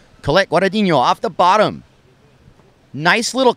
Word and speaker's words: Guadagnino: Colette Guadagnino off the bottom.